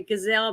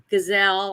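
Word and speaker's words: Ghislaine: But uh yeah, about uh the other day they the first thing that was released was the transcripts for the Gazelle Maxwell case, a trial.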